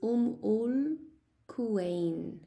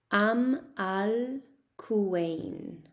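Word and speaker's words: Umm al-Quwain: So the pronunciation in Arabic is Ul Quwain. Ul Quwain. But in English, we say Am al Quwain.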